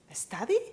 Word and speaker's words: study: Study? Try again, come on. Study, study. Cuando una palabra empieza por S y va seguida de consonante, se pronuncia la S como S.